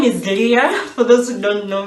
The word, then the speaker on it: Leah: And in English they pronounce it as Leah. In Swahili they say Leah. And Spanish too. I noticed Spanish people say Leah. So so because I'm gonna speak Swahili, I'm gonna say Leah.